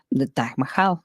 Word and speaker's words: Taj Mahal: The Taj Mahal.